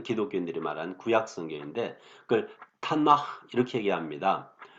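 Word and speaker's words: תנ״ך: 특별히 시편으로 대표가 되는 그러한 책들인데 이 세 글자 토라의 T, 네빔의 N, 케투빔의 K를 합해가지고 이것은 이제 뒤에 가면 히브리에서 흐 발음이 나오거든요. 그래서 타나흐 그 모음 R을 더해가지고 타나흐 이렇게 얘기를 합니다.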